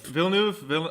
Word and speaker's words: Villeneuve: Is Denis Villeneuve? Villeneuve. I feel criminal to pronounce that wrong.